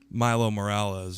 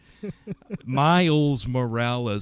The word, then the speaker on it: Miles Morales: like ms marvel Nova and Milo Miles Morales Milo Morales yeah yeah yusei's name wrong you're gonna make me do it uh